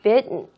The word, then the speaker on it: bitten: were banished from Heaven bitten 발음에 유의하세요 tt 이렇게 으니까 bth이 아니라 bitten 렇게 해서 같이 여러분들이 학습해